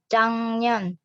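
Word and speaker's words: 작년: Selanjutnya jang년. Bacanya jang년. Di sini giok ketemu sama n jadi eng.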